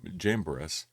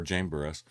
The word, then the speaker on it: Jambres: These teachers oppose the truth, just as I believe that is pronounced Janez and Jambres, or Jamburus, opposed Moses.